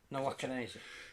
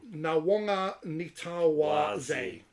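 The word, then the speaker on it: Nawaqanitawase: Nawakanese. Yeah. No, that's wrong. No, it is Nawanga Nitawaze.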